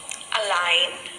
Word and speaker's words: align: So here the sound of letter G is silent. Let us read some more words. Design. Design. Align.